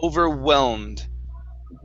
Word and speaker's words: overwhelmed: We do not pronounce that H, saying overwhelmed. It's overwhelmed.